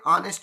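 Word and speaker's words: honest: यहाँ पर एच जो है साइलेंट है, ओ से जो है आपको एन का उपयोग करना है।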